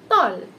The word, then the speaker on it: tall: And we don't say tal or tail, we pronounce this as tall.